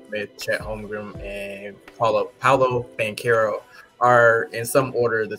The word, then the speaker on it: Banchero: Banchero, yeah.